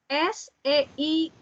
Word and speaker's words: Seite: sini ada SEITE. Kira-kira dibacanya apa? EI. Seite. Seite. benar, Seite. EI dibacanya AI.